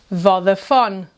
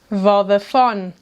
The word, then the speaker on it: Vodafone: And maybe your cell phone has this network: “VÓDAFÓNE”, “VÓDAFÓNE”.